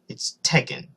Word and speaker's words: Tekken: It's Tekken. Alright? Almost every gamer knows the game Tekken, one of the most popular fighting games of all time.